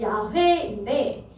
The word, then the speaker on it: 야훼: 쉽게 부를 수 없었죠 그래서 우리가 여호와가 원 발음으로 하면 야훼인데 이것을 이렇게 표현하는 것을